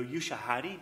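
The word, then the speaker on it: Ushahidi: uh computer human interface like um i know you shahadi did i pronounce that right yes you do um you shahidi they have a swift whip swift river application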